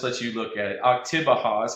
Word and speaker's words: Oktibbeha: Oktibbeha is how you say it, County Co-op, and you can find that on Facebook.